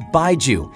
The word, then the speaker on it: baijiu: Baiju is pronounced as Baiju, and it's a type of alcoholic beverage that originated in China thousands of years ago.